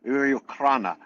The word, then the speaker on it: Ukraine: We call that the Ukraine. I don't know if that's how you say it over there, but over here it's I don't say Ukraina. Ukraina. I can do that though.